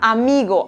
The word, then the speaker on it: amis: Por ejemplo, la palabra amigo, amigos se pronuncia exactamente igual en francés, ami.